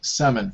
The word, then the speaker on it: salmon: This word, the L is silent. So we say salmon. Salmon.